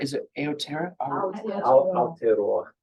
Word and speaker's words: Aotearoa: How do you pronounce? Is it Aotearoa? Aotearoa. Aotearoa.